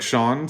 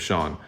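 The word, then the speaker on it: Cean: the beginning chapter one the name is c-e-a-n and i assume that's pronounced like shawn so that's what i'm gonna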